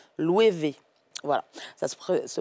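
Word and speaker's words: Loewe: ça s'écrit l' et ou mais ça se prononce louv voilà ça se prononce louevv et il a habillé aussi justement Ariana Grandet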